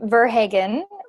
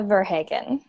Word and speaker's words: Verhagen: up your last name it's okay everybody does even me Verhagen but I go over to Holland and they tell me I pronounced it wrong so that's okay I love it mark what is French actually in origin and so I've had like French people and Haitian people tell me that I pronounce my name wrong and I might well